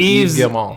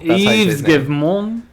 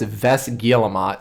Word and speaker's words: Yves Guillemot: That's how you say his name. You think it's funny? You can laugh. Yeah, he's a French man. That's literally how you say his name. Like exactly. Yves Guillemot. Yves Guillemot. Yeah. If you try to read it, it's Ves Guillemot, but you don't read that.